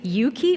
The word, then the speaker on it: EUKI: now like to invite three Yuki or oi depending what language you're speaking how you pronounce the the name of this organization so um we'd like